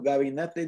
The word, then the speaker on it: gabinete: ¿Cómo está tu gabinete de alcohol? Mi gabinete de gabinete. That's a hard G.